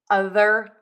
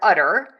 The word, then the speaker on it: other: The mistake I hear is the word utter. This is not a very common word, so you might not know what that is, but it is actually the part of a girl cow where we get the milk. So where you milk the cow, that is the udder. So we are trying to say the word other, not utter.